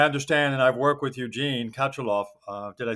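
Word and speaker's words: Eugene Katchalov: I understand, and I've worked with Eugene Kachalov.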